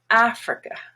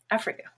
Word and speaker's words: Africa: and it's black now the i and the a even though i and a are very different kind of letters both are pronounced schwa africa africa now the word capital